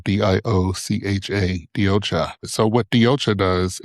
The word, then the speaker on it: DioCha: I am the founder and CEO of DioCha. That's spelled DIOCHA, DioCha.